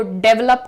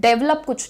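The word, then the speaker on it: develop: डेवलप करने की जरूरत डेवलप कुछ नहीं होता है जो प्रोनाउंसिएशन है ध्यान से देखिएगा यहां पर आपको कहना है डिवेलप D well up डेवलप proper पहले जब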